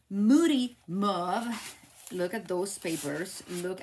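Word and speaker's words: Mossy Meadow: petal pink it has muddy move Moody mve I said I always say it wrong Moody not muddy Moody mve look at those papers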